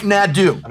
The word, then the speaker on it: Nadu: I mispronounce Nadu copia Nadu yeah that's right Nadu say like a minion you go NAD adop